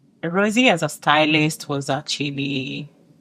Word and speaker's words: Rozzy: The first time I met Rosie and I was trying to pronounce her name and since I'm Kenyan I went like Rosie and she was like no my name is Rosie and I was like nice.